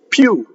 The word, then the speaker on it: più: This I is invisible. It's just a semivowel. più. E, see, so if you look for the IPA, it'll say that there's a Y. But that's dangerous because English Y would be down here, più. The Italian E, it's the semivowel starts from the E position, più.